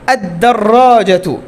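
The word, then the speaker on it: الدرجة: আর যদি শিনের মতো বাদবাকি 14টার সাথে লাগে তাহলে কিসের মতো উচ্চারণ হবে, শিনের মতো। এই যে আশ-শামসু, হ্যাঁ, আদ-দাররাজাতু, দাররাজাতুনের শুরুতে দাল, এর শুরুতে যদি আমি রাখি তো আদ-দাররাজাতু, আর-রাজ্জাকু, ঠিক আছে, এরকম।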